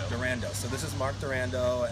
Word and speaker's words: Durando: Mark how do you say your last name durando durando so this is Mark durando and uh he